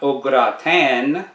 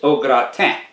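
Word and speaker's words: au gratin: roll the r okra the gra rhymes with bra and the n on the end of t i n is silent so it's not ogratan it's ogratam next we have beignet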